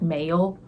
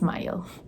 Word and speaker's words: Mile: words and I'm like, this is how you would pronounce it as an Indian, because you would look at this and be like, male. That's not right. It's Mile. Mile.